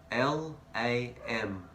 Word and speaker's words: LAM: Now in your mind, repeat this mantra, L-A-M, LAM.